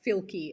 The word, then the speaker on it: Fielke: No one can spell it or say it. Say it again. So it's Fielke, F-I-E-L-K-E.